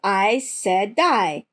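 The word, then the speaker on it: Aes Sedai: I saw the thing yeah I Saidi equals I saidai Shan Shan equals Shan Shan good pronunciation guides I mean actually no but I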